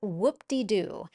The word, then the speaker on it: whoop-de-doo: it looks similar to that woohoo example it's pronounced whoop-de-doo and we have to be careful with this